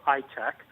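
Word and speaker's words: ITEQ: is I teq or I tech many Israelis pronounce hi tech with a little bit of an accent so they pronounce a kind of like I tech it tracks the key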